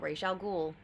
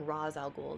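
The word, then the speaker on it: Ra's al Ghul: that bane has done that i think uh ray chalgool um or raz raw's alcohol depending on how you pronounce it but it seems interesting for the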